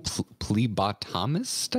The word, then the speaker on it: phlebotomist: Phlebotomist? I believe that's right. I don't know how to pronounce it. Thank you, Baggins Wolf, in the chat. Phlebotomist? Phlebotomist.